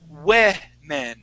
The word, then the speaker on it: women: one woman we say ween okay but it's spelled like this women now this o the first o will sound like a short e we women okay so that's